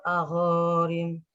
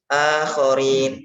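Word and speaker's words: الآخرين: Summa dammarnal akharin. A-nya panjang itu, A-nya. Akharin. Summa dammarnal akharin. Gitu? Summa akharin. Sedikit ini ya keterangan ya tentang tadi yang dibaca tuh akhorin, bacanya A-nya dibaca pendek.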